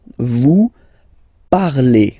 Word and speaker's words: parlez: All right, let's see now for vous, vous parlez. Okay, remember a Z, when you combine them together, you get the sound E. Vous parlez.